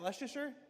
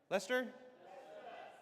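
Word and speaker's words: Leicester: How do you say, is that Lucaser? Lester.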